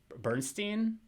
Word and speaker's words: Bernstein: The score is Charles Bernstein.